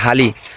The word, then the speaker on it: হালি: আমরা আর কি আলি কই, মূলত সঠিক উচ্চারণ হইলো এগুলা হালি।